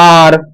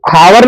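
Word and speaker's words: hour: आर जैसे मैं लिखता हूं आर इसको हम हावर नहीं पढ़ते। हावर नहीं पता है आर यहां पढ़ते हैं आर।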